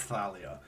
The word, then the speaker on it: Thalia: it and I know that's how Rick Rearden pronounces it I know he says Thalia but I have always thought it as Talia